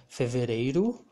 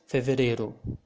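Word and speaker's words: fevereiro: can listen you can hear some brazilians saying feverero or feverero both pronunciation are okay and i also call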